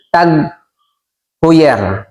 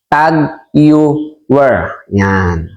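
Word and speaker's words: TAG Heuer: relo pamimili ng alahas Marami pong nagkakamali sa pronunciation o pagbasa ng tager ito po kasi ang spelling na tager May nagsasabi po na p may nagpapagawa saako ng relo Magkano daw po ang gawa ng kanyang tag hyer ang iba hindi lang po ako nagsasalita meron namang isang tagger ang iba naman tagare ngunit ang tama pong pagbasa diyan at pronunciation po niyan is tag yan ngayon kung hindi mo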